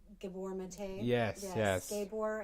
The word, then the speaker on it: Gabor: Gabor, I think is how you say his first name. Okay. But I like Gabor better.